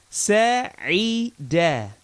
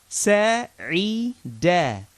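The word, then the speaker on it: سَعِدَ: So we have harful sin with a fatha, harful ain with a kasra, and that's going to give us the I sound, and harful dal with a fatha gives us a da sound. So that's sa'ida, sa'ida, which basically means to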